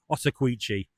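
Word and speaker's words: Ottauquechee: passing like, "Can you please tell me how pronounced this river?" And it's the Otawqui.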